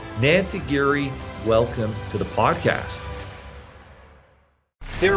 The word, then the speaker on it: Giere: we say it right my last name is Gary Nancy Geary welcome to the podcast there are over 32